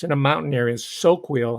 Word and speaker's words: Soquel: in a mountain area soquel i think it's pronounced s-o-q-u-e-l a wealthy a well-to-do